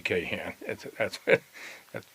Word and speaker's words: Kahn: you did not want to mess with Harvey Kahn. That's how we pronounced their name back there.